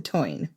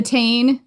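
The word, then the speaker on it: Táin: genre in Irish literature, the Toyn. We did an episode about the cattle raid of Cooley, and throughout it, we called it the Tain, which is not the correct pronunciation as far as I can tell.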